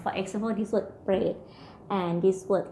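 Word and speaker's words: เปรต: You have to pronounce R with the P.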